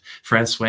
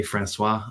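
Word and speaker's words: François: Francois, you would probably say Francois. The locals say Francois.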